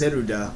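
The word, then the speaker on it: ゼルダ: Like Zelda, for example, is written in katakana, and it's pronounced Zeruda because L and R are, they don't have L or R really.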